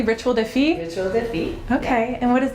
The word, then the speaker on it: Rituel de Fille: And just tell me, am I pronouncing that correctly? Rituel de Fille? Rituel de Fille.